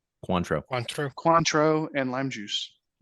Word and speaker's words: Cointreau: and then how you say it, Contrier, Cointreau, Cointreau.